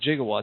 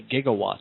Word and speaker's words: gigawatt: knows this but uh they ran with jigawatts he was supposed to say gigawatts yeah but he misspoke he he he he he sparked the the mass Miss pronunciation of gigawatt with 21 gig and